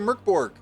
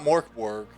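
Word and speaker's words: Mörk Borg: On Tuesday, we played some Merkborg, which is not Morkborg because that's not how you say it. It may not even be Borg. I'm not sure. It could be Merkborg. It could be. Yeah. Yeah. The O doesn't sound like normal because of the 2 dots.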